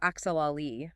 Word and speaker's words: actually: People try to say actually, but the T and U blend into a chi sound.